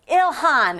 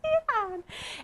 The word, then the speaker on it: Ilhan: Because I did have somebody reach out from the Democrat Party and said, it's Ilhan. And I'm like, it's Elon?